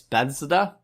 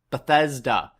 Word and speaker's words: Bethesda: It's Bethesda. Bethesda. Man, my pronunciation problems, and then you try to throw like a TH in there with an S and D.